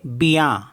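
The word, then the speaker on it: bien: for example B आई ई एन इसको पढ़ेंगे बिया बया मीस होता है वेल टी आई ई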